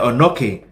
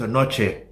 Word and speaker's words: Onochie: names, like my name, like pronouncing it Anoki. Who told you that, fam? It's a Noche, not a Noki.